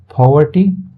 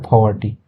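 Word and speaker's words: poverty: गुजर गया ठीक है पॉवर्टी ठीक है इसको पोव नहीं पढ़ते हैं फ फ फ वाला इसमें थोड़ा उच्चारण होता है पॉवर्टी इनकी गरीबी इंसिस्टेड इंसिस्ट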